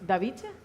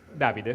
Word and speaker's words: Davide: Quiero pronunciar bien tu nombre. Bueno. ¿Davice? Davide.